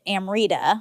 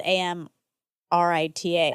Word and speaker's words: Amrita: So, sometimes when there's just a t, it's pronounced th.